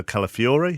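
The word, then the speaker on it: Calafiori: It was scored by Ricardo Calafiore.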